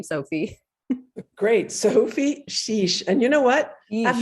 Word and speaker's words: Chiche: it's hard to pronounce it's like s's and f's and shish's and it's like a lot of work and so think of it as like s h e e e like that's what